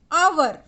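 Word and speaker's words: hour: The words our and honest begin with the letter H, but the H is silent.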